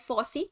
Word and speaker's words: FOSSEE: force f4 double sw we can pronounce it at fossee so free or liberal